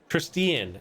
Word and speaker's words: Tristian: Well, his name's actually pronounced Tristian, isn't it? Tristian is actually how you pronounce the name.